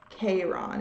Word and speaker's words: Chiron: that's called chiron but it's spelled with a k not a c k ron it looks like it says k ron and it's like 44